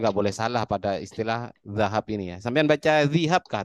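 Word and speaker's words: ذهب: min awanil zihabi Hah? wal fiddah. Apa-apa bacanya? Min Min awani. zahabi. Iya, zahab ya. Emas itu zahab.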